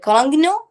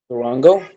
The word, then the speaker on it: Durango: Don't know how to pronounce its name. I think its name is Carangno. Dodge Carangno. Durango?